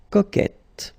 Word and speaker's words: coquette: Coquet will become coquette. Okay? But think about that, this is the rule, but it's quite interesting because we've got so many exceptions that somehow the exceptions are you can find more exceptions than the one that will follow the rules. So I know it's strange, but then so keep in mind that the main idea is to get the sound et.